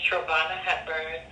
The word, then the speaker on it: Trevonna Hepburn: And your name again is Trayvana Heborn, right? I'm sorry. How do you pronounce that? I'm sorry. My name is Trobana Heburn.